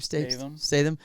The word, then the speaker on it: Statham: you've seen the movie or not, but Jason Statham, how do you say his name? Statham.